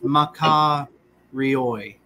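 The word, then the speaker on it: μακάριοι: this is ma ka ri oi, right?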